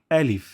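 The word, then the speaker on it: ألف: এর প্রথম হরফটি হল আলিফ। আলিফ। এখানে অনেকে উচ্চারণ করেন আলিফ।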